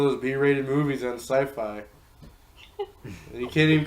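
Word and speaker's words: Syfy: to get recognition when people are calling your channel Skippy it's that sci-fi really calling it's kicking oh yeah SCIF I people are dumb and don't know how to pronounce things correctly it's like Skippy I know some of be rated films made me really think it was Skippy like there be rated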